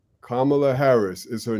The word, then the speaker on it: Kamala: You have to put the emphasis on the first A. So just remember that. Sometimes I got to talk to myself. Emphasis on the first A. Kamala.